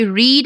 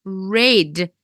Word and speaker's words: read: read right so I read a book every day I read a book it's spelled in the exactly the same way but when we pronounce it it changes I read a book